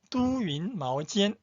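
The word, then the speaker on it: 都匀毛尖: 글자 보세요 중국 아 사람들은 이게이 발음 두 가지가 있다는 거 알죠 또 도스 한국 우리는 모두 한국 사람이 할때 또 지만은 따 두스 할 때는 대도시 할 때는 두라 발음해요 그래서 요 차 이름은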